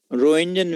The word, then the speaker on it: Roentgen: X ray का असल नाम एक्सरे नहीं है, रोइंजन वेव्स है। रोइंजन स्पेलिंग लिख लो, ROENTGEN, रोइंजन वेव्स, ROENTGEN, रोइंजन। लिख लिया?